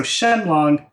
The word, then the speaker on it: Shenlong: they're read and so shenlong on its own in Japanese this would normally be read as Shin Ryu right and a lot of people ask that why isn't it written or spoken that way but it's because of that furana similar to how we